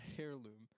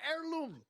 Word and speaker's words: heirloom: why because it's a hair loom all right you don't even know how to say they were heirloom what is what this hair loom with this hair loom fine heirloom but my point is